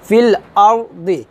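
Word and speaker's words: في الأرض: লা তুফসিদু ফিল আরদি আর যদি আমরা এখন ওয়াকফ ধরি তাহলে এই দোয়াত্র আমরা জজমওয়ালা দোয়াদের মত উচ্চারণ করব যেমন ওয়াইযা কিলা লাহুম লা তুফসিদু ফিল আরদ ফিল আরদ ফিল আরদ এভাবে হবে ফিল আরদ তারপর কফ আলিফ জবর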